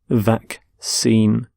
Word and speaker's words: vaccine: a disease so vaccine note the pronunciation of vaccine the 2 C's in the middle the first C is the cur sound the second C is the sound vaccine vac seem and you can have